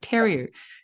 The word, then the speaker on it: Theriault: actually recorded that, but I pronounced your surname wrong. I said Theriault instead of Theriault.